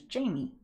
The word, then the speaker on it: Jaime: I'm assuming your name's Jaime my sister's name is spelled like that and her her name is Jamie all right potential daily